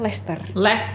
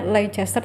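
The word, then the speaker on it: Leicester: S2 di licester eh dia tulisannya Le Chester tapi bacaannya Lester ini comon ini ya biasanya comon make orang-orang bacanya l Chester tapi but Totally fine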